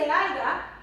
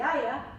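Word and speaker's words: haya: You tell a heritage speaker, no se dice aiga, se dice aya, they go, well, wait a minute now.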